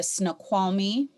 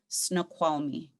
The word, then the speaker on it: Snoqualmie: that it was documented you would have heard snow quality snow qualmup snow qualmu which is closer to how you see it written in english today snoqualmie snoqualmie all right so